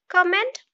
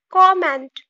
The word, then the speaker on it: comment: Comment? No, comment.